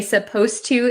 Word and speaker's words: supposed to: suppose and supposed to when we say supposed to it sounds like the D disappears but it's actually still there so be careful with